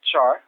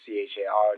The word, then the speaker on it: char: the syntax of uh Char or CH r depending on how you pronounce it but this displays a